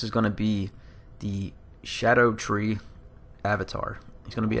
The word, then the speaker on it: Scadutree: going to be the shadow tree Avatar he's going to be at the tree worship sanctum Grace like I was saying in the other video it's not scatter tree like I was pronouncing before and other people have